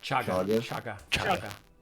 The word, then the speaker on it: Chaga: Not Shaka. How do you say the name again? Chaga. Chaga. Chaga. Yes. All right. Oh, yeah, it needs to be Chaga.